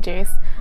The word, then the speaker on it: Jace: and by the way, my name is Jace, that's how you pronounce it, like Ace, but with a J. So J-A-C-E, not Chase, not C-H, Jace, so.